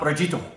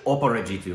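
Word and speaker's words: Aparajito: I don't know how to pronounce that, so you're just gonna... Aparegito. Aparegito. It's actually Oparegito.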